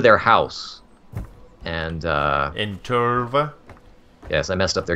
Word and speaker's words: Tölva: about the signal from Tova you have to say it right Tov um so open world